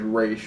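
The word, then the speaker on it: Ra's: once someone fights roz it's actually race but they pronounce it raz once someone fights roz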